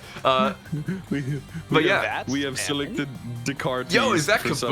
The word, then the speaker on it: Descartes: Pretty sure So it's pronounced Descartes.